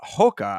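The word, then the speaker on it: Rocha: excuse me Lucas uh Hoka I believe is how it's pronounced you know Brazilian pronunciation but Clayton Carpenter versus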